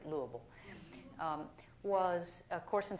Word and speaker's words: Louisville: teaching at Louisville Seminary that's how you pronounce it lble um was a course